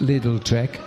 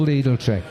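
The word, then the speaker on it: Lidl-Trek: little Tre but the team don't want it pronounced little Trek because they think the viewers will hear little Trek and they don't want to be called little Trek I understand so we're all leadle trick an agreement was reached a few years ago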